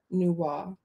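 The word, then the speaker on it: Nüwa: but i did like that story as well nuwa apparently that's how you pronounce i for me i like atta i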